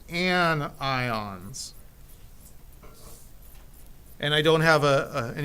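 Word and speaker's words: anion: say keishon usually okay negative ions are called an ions and I don't have an interesting way like I do for the positive to remember that but I can tell you it's not pronounced an Yin it's an ion z' okay so that's a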